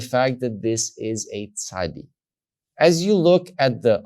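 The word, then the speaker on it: צ: witch by the way makes the sound sa like the letter t s letters t s you will see that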